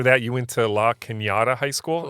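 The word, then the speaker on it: La Cañada: you went to LA kinata High School is that am I saying it right yeah like Canada yeah La Canada in fact uh uh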